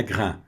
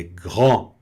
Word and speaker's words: grand: Se eu pronunciar aqui gras, pode ser que o francês vai entender como grão, aqueles grão de arroz, de feijão. Gras. E não é grain, é grand, grand.